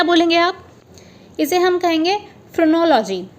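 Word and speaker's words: phrenology: आप, इसे हम कहेंगे फ्रोनोलॉजी। सो फ्रोनोलॉजी को प्रोनाउंस कैसे करेंगे, FRUH, फ्रो, न्यो, लॉ और जी तो आपको पता ही है, ये U है, ठीक है, LUH।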